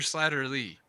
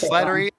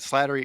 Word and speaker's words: Slattery: is it Slattery or slatter Lee oh it is Slattery Slatterly all the time but Slattery is correct that's why just call